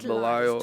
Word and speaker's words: Belial: I knew I pronounced it right, Belial.